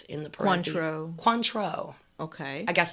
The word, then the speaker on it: Cointreau: So that Cointreau that for last week's, yeah, she said it's phonetically pronounced Cointreau. Am I pronouncing that correctly? It's in the parentheses. Cointreau.